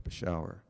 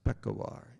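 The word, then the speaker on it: Peshawar: We're going to Bashau. Pashauer. First major city along the border. 30 years no one is ever pronounced other than Bashau. Everybody Afghan foreigner calls it Bashau. It's pronounced peekawir in this valley.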